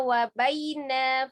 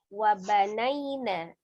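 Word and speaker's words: وَبَنَيْنَا: Ini bacanya wa baina fawqakum sab'an shidada. Seharusnya wa banaina. Ada nunnya ya.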